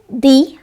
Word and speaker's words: the: দি apple, A ই আই ও ইউ এই পাঁচটি vowel দিয়ে যখন কোনো ওয়ার্ড শুরু হয় তার পূর্বের ডেফিনিট আর্টিকেলটিকে আমরা দি উচ্চারণ করি।